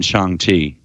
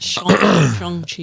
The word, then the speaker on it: Shang-Chi: So who's the villain in Shang-Chi? Why do you keep saying Shang? The same reason why it says Hong Kong. Hong Kong, but Shang-Chi.